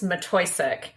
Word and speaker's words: Matwiejczyk: you did it perfectly it's mattoc and it's not Dutch it's polish and it's something I'm